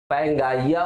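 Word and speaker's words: Pangaea: पैंजिया, या इसको कहीं कहीं पैंगाइया प्रोनाउंसिएशन भी करते हैं, ठीक है, पैंजिया।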